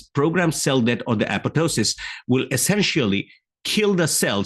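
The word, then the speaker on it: apoptosis: this word as an epop Tois but uh if you just look at the linguistic that how the origin of this word actually happened the second P should be silent so the apotosis is the correct U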